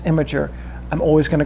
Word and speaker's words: Imgur: There's an Imgur link, and I refuse to pronounce the website's name correctly. I know it's Imgur.